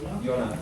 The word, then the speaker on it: Jonas: You say his name Jonas? Jonas.